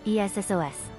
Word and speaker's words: Essos: According to the TV series official pronunciation guide developed for the cast and crew, Essos is pronounced Essos.